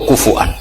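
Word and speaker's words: كفؤا: Kuf'an atau kufuan bil Hamzah.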